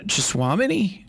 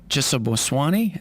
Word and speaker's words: Cheboswony: here as uh joan chaswamini uh i said it wrong there already jessa boswani as we have her